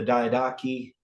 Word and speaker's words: Diadochi: So if we go back, we have the Diadochi Wars, I think is how it correctly be pronounced, but everybody pronounces it differently.